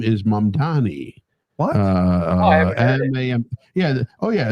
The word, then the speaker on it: Mamdani: The name is Mamdani. M-A-M-D-A-N. Learn how to say it.